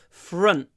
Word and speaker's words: front: almost without a verb people say front or front no front front front there's not a lot of in this word FR front little pause and then say the T confront confront confront we